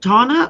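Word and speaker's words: Tauna: Is it Tana or Tanya? Tana. T-A-U-N-A. Tana. Yeah, Tana is how, because of how it's spelled, but you know, some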